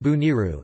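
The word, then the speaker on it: Bonairu: Bonaire, pronounced or Dutch Bonaire, pronounced Bo-N-R, Papiamento, Boniru, pronounced Buniru, is an island in the Leeward Antilles in the Caribbean Sea.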